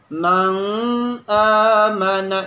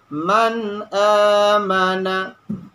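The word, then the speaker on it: من آمن: amanah jangan kita Demon jangan kita baca nang amanah itu salah cara baca yang benar adalah man aamana itu bila contoh mati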